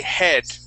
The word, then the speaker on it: head: So now we're going to say lad, and we're going to say head, head, okay?